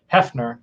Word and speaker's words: Hefner: I think I said hi to Rick Hefner already, or Hefner. Hefner. I know it's spelled like Heaf, but I think it's Hef, like the Hef.